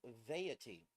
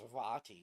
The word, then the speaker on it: Vaati: Well, I kept pronouncing his name Vaity, like deity, but with a V.